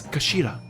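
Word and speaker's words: 頭: It's written as head in Japanese, but it's pronounced as kashira, I believe.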